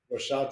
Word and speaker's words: Rashad: Rashad I believe I got it right the pronunciation is a Rashid or Rashad Rashad you got it perfect perfect okay so I